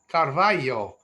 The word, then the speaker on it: Carvalho: man named Solomon Nunez Carvalho. And notice how Carvalho is spelled with an LHO, which is the Portuguese way. In Spanish today, they have a double L for that sound.